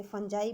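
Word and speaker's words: fungi: इसको बहुत सी तरह से प्रोनाउंसिएट किया जाता है, कोई इसे फंजाई बोलता है, कोई फंगी बोलता है।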